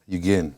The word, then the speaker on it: Yugen: Now, Yugen, it's pronounced Yugen, or is it Yugen? Yugen. Yugen.